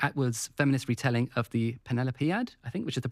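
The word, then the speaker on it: Penelopiad: There's Maline Miller's Song of Achilles, Margaret Atwood's feminist retelling of the Penelopead, I think, which is the pronunciation. Am I right? Yeah, Penelopead.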